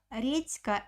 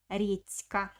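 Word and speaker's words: редька: k is voiceless consonant that's why letter d also becomes voiceless it's japanese radish or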